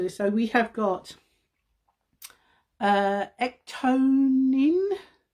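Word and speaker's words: ectoin: So we have got ectonin, is how you pronounce it, a multifunctional ingredient and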